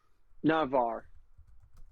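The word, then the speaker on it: Navr: Based off of Sky, it was based off of Navar.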